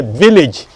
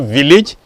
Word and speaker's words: village: Now the next one is a village. Again, it's not village, it is village.